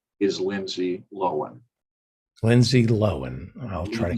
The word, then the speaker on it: Lohan: newspaper was that i have been pronouncing lindsay lohan's name wrong along with almost everybody else and her